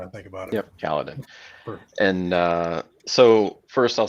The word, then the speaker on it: Kaladin: And am I pronouncing that right now that I think about it? Yep, Kaladin.